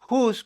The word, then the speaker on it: whose: Whose para posesión y whose que suena igualito, que es la contracción de who is o quién es. Suenan igual, pero se escriben diferente.